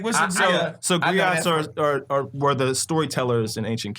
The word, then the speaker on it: griot: older as we as griots, we as community leaders, Hold on. as black men, griots, You know good and well you can't put. First of all, that got 3 syllables in it.